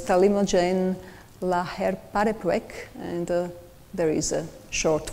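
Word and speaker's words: talimogene laherparepvec: And the name is really not easy to pronounce. So it's Talimogen laherparepvec, and there is a short form.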